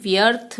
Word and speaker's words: व्यर्थ: तो जब हम व्यर्थ बोलते हैं तो थ से पहले र का उच्चारण हो रहा है, तो यह मात्रा थ के ऊपर लगेगी।